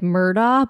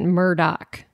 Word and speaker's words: Murdaugh: annoying thing is that it's spelled like Murda but they pronounce it Murdoch okay J be illegal